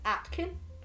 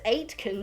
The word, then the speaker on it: Aitken: is spelled a-i-t-k-e-n um a lot of people mispronounce it as atkin but i see that a i and i go huh well obviously it's eight can because you know a